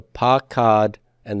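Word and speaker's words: פָּקְדָה: by a vocal shava, I will see a metheg frequently to tell you to pronounce that as the long A. So pakad and then pakada. Pakad, pakada.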